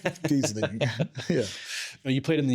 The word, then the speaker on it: Geseling: So, uh, yeah, you pronounced this and I think Americans say Giz Gizling. Giesling.